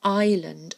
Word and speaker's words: island: she lived on the island of coal so Island has got a silent s in it Island and here we